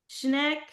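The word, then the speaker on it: Schenck: so it's so it's the name is skank the way that you pronounce it is either skank price or shank price either one is fine you know it's my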